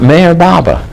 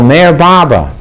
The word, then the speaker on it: Meher Baba: And I says, it's a book about Mayor Baba. So he said he couldn't pronounce the name. He said, Mayor Ba. And I says, no, Mayor Baba.